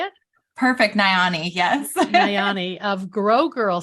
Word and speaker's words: Nayani: And Sarah, Nayani, Mm-hmm. is that how you say it? Perfect. Nayani.